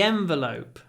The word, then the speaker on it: envelope: some money in the envelope remember the Yen the Yen the envelope the envelope try to hold the N the envelope in the envelope